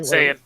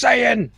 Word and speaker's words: Saiyan: Saiyan. It's pronounced Saiyan.